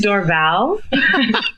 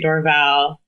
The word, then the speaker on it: Dorval: even quite sure I think it's door valve sweet how long do they have is last name differently i I'd say Dorval it's an airport so I feel like